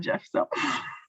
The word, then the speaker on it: GIF: But most people call it GIF, so. Well, GIFs is phonetic because the soft G before an I, but I think it is graphic.